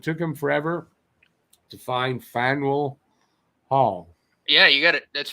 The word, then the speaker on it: Faneuil Hall: it hockey it too okay how do you pronounce that it andrew says it took him forever to find fine wool hall yeah you got it let's fade your heart